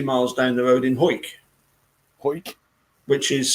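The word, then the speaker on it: Hawick: them was 20 miles down the road in whoit whoit which is spelt h8 h a wi ck yeah aw I see okay but it's pronounced Hoyt and when and where did the two where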